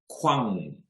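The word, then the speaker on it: 광: So this is actually pronounced, and you can try this at home as well. Kwang. Kuang. So it's o and an ah. So if you say that at the same time, it's wa. So it's kwang.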